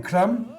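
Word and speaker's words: hram: How do you pronounce that again? Kam.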